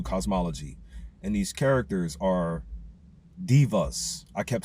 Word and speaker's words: deva: And these characters are divas. I kept saying devas for a while, but I'm going to but they're they're pronounced divas like d i va, but it's just spelled de va.